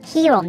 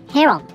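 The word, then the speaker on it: heron: 鳥の詐欺ですこちら綴りがねヒーローに似ていますが読み方はヒーロンではなくってヘロンになるわけですねという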